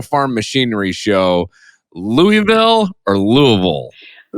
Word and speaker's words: Louisville: So we're gonna start out though, since you said the National Farm Machinery Show, "Louie-ville" or Louisville. - "Lou-a-ville". - You didn't do it right. That's not right.